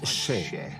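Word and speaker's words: še: Le mot orge en sumérien se prononce sheh. Donc un sumérien voit cela et dit « Ah, sheh, orge ».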